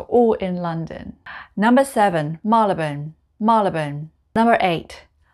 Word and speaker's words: Marylebone: four places are all in london number seven malibun malibun number eight hoban hoban i always just